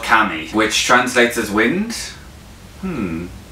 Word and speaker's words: Qami: High firm and I originally thought it was called Kwame and learner's disappointed to realize the pronunciation was actually kami it's actually a belter